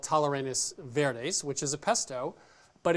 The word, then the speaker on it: tallarines verdes: So today on Milk Street, it's Tallarines Verdes. Now, you are the master of pronunciation. Did I do that right? No. Of course not. That's why I asked. Thank you so much. Tallarines Verdes. Oh, that's so much better.